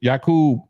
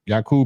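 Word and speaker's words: يعقوب: that's the same name Jacob is yakub in Arabic yakub and Jacob is the same name it's just pronounced differently in in Arabic than it is in English um Eric Swan I'm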